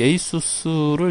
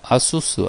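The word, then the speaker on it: ASUS: 에이수스 자,이 에이수스를 이제 원래 그 발음을 어, 아수스 아수스라고 많이들 발음을 하시죠. 근데 이제 저도 잘 모르겠는데 그 그쪽 회사에서 에이수스라고 발음을 그 하는 것 같아요. 그리고 이게 공식적인 어떤 발음 표시인 것 같기도 하고 가끔 이제 외국 영상 보면 에이스라고 발음을 많이 하는 것 같더라고요.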